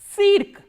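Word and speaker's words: цирк: How will you pronounce this word? Cirque.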